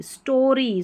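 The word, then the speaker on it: story: Long इसका उच्चारण होगा। ST को स्ट और एंड, स्टैंड। ST को स्ट, यहाँ पर ओरी, स्टोरी, स्टोरी, और लास्ट में जो वाई है ना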